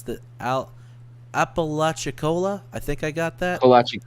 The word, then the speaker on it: Apalachicola: Here's Tallahassee, here's Panama City, and I don't know how to pronounce the Apalachicola. I think I got that. Apalachicola, Florida.